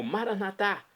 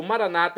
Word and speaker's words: Maranatá: E agora do aramaico eu clamo Maranatá. Como dizemos nós católicos, ou Maranata é como dizem nossos irmãos separados, os evangélicos ou protestantes. Não importa a pronúncia, o significado é o mesmo.